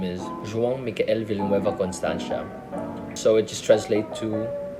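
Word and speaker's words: João: i just hate it when people call me or you know they make up they make up a different pronunciation like or though you know like i know my name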